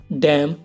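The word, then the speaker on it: damn: और ऐसे ही और एग्जाम्पल हैं, जैसे हिम, ऑटम, डैम और कंडेम। इन सब में एम के बाद एन आया हुआ है तो एन साइलेंट है।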